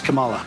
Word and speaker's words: Kamala: step down you guys are both idiots it's Camala at least I mispronounce it on purpose to scare my supporters